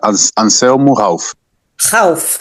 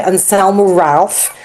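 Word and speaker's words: Anselmo Ralph: Can somebody pronounce it for me? Uh, anelmo. Hal. My son keeps telling me that I pronounce it incorrectly because I say Anelmu Ralph and he says, "No, no, no, no.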